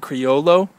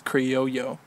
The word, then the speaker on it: Criollo: A lot of people would probably pronounce that Criollo, but it's a double L, so I guess that's Criollo.